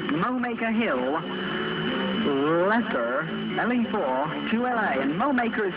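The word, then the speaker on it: Mowacre: And Mowmaker is spelled M-O-W-A-C-R-E, Mowmaker.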